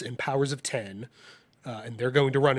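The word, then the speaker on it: Powers of X: House of X and Powers of 10, and they're going to run until there's Powers of 10? It's Powers of 10. It's written with an X, but they have said it's pronounced 10.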